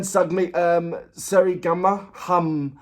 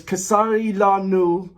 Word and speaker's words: Khesari Lal: And I have Google Translate to make sure that I'm pronouncing the name right because I wanted to get it right. So it's Khesari Lal, Nathuniya, Priyanka Singh, Nathuniya, Arshiya, and Arshi. So that's the artist and the song, I believe.